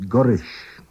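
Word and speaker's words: goll rish: Cray, gulrish, tan emshir. Cray, gurish, tan emshir. What's the weather like? Gulrish, which is always pronounced gurish in normal speech, means going to.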